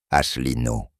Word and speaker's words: Asselineau: François asselino prononciation française François asselino né le 14 septembre 1957 est un éminent